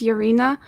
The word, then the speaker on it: Yaryna: much for having me here my name is yarina uh yarina in Ukrainian but um I'm 25